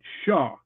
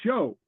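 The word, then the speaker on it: seo: Okay, so she pronounced it Shaw. Mhm. Okay. And often heard, and from me, is show. And that's what Duolingo does too. Show. Yeah, yeah. So this just has to do with the different pronunciation, either, and that you often hear in Gaelic. I've had people tell me that Shaw is the older form and very often more common in Nova Scotia, of all places.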